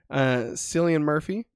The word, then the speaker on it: Cillian Murphy: Cillian Murphy, I think is actually how you say his name, for Oppenheimer, and Jeffrey Wright for American Fiction.